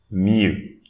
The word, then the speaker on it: mieux: Don't pronounce the X. Mieux, mieux.